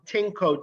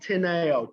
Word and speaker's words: Tineo: The board had called my client Tinko Diaz, but for the record, his name is spelled Tineo, Tineo Diaz.